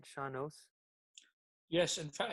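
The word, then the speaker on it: sean-nós: Shanos?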